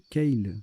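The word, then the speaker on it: kale: variable en genre, et Keil, ça se prononce Keil, K-A-L-E, non masculin, un chou vert à friser.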